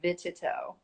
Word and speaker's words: Vititow: anybody's wondering, my last name is pronounced Vititow.